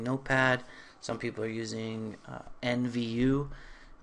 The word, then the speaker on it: NVU: Some people are using NVU. NView is how you pronounce it, and some other people have some other type of HTML editor.